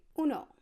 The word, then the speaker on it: uno: in spanish in espanol to say 1 you're gonna want to say uno now I don't know